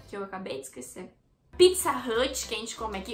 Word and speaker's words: Pizza Hut: Bom, lá fora, lá na gringa eles pronunciam Pizza Hut como Pizza Hut. Pizza Hut, entendeu? Não é pra baixo, Pizza Hut. Pizza Hut. É Pizza Hut, entendeu? Esse hut é pra cima, então Pizza Hut.